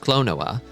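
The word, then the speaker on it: Klonoa: When Clown says things like, it's pronounced Clonoa, I get so scared.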